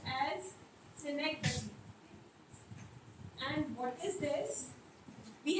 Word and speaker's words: synecdoche: It is pronounced as synecdoche.